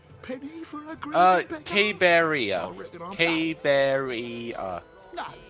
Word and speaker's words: Caberea: Caberea, 4 syllables. Cabe is 1 syllable.